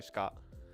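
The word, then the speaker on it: 鹿: So shika, kore shika. But when it's shika, like deer, I feel like there's a little bit more emphasis on the e, because it's a thing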